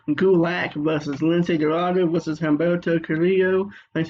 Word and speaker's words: Humberto Carrillo: It's champion Drew Gulak versus Lince Dorado versus Humberto Carrillo.